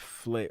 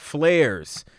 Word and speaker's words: Flares: We got Flare, or is it Flares? My bad. Flares. I've been saying it wrong, but I'm going to get it right tonight.